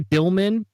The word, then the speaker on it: Dillman: And I'm going to say Dillman because it's actually how he pronounces his name, but it also sounds funny, kind of like a dill pickle.